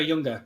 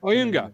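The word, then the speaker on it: Ayunga: I'm going to absolutely butcher the pronunciation, but thoughts on Jonah Younger. Oyunga, thank you.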